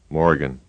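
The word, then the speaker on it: Morgen: one Malden number two Morgan six repeat after the instructor modern Morgan Morgan Morgan that's hard more seven Morgan notice that in the written form m-o-r-g-e-n there is an R it is not pronounced Malden Morgan eight repeat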